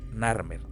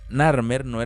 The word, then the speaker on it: Narmer: fuerza y al dominio que significaba nar y un sincel, una herramienta vinculada al acto de construir, someter o dar forma, el cual se pronunciaba como mer.